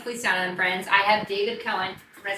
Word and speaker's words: Koehn: I have David Koehn, did I say it right?